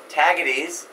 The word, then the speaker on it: Tagetes: It's called, let's see if I can pronounce this name, I remember the name of this. It's Tagetes, T-A-G-A-T-E-S.